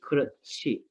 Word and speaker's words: 그렇지: So in that case, the last word, it says it sounds like 그러지, but that here at the second syllable is gonna make it 그렇지. It's gonna sound like that, all right?